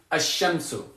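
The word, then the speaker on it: الشمس: Because you'll know that sukoon means that I do pronounce the lam, al-qamaru, and you'll know that that shadda means that I don't pronounce the lam, ash-shamsu.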